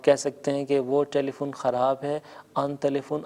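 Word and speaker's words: تلفن: ٹیلی phone خراب ہے، ٹیلی phone کو ہم فارسی میں ٹیلی فون تلفظ کرتے ہیں، یعنی تے لام فے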